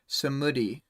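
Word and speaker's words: Samedi: little audio clip to no but it's uh samudi is how you pronounce that okay actually i guess i'll ask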